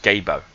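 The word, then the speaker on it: Gebo: Right, the next one is pronounced Gabo, and this is Gabo.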